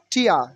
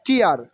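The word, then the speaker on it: tear: ওকে টিয়া টিয়া নট টিয়া নট টিয়ার T will be pronunciation is ঠ এন্ড R will be silent hair টিয়া টিয়া টিয়া টিয়া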